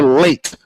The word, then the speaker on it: Leite: It's Carla Leite, as in being late for an appointment, like I was nearly late tonight.